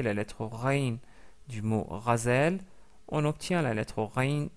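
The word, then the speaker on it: غزال: Razel qui veut dire une gazelle. Ce mot-là commence par le son ra. Ra, c'est le son de la lettre rin associé à la fatha.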